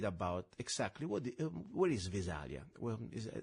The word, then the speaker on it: Visalia: exactly what where is Visalia is am I pronouncing it right Visalia California is that corre yeah it's velia California we actually are a little